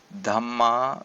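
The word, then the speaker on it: dhāmma: Dhama with a long a is another important word which means the same as kama.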